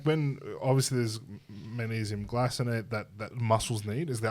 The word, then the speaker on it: glycinate: When someone was to take magnesium that's not glycinate, Glycinate. glycinate. You're doing your K. It's a soft C.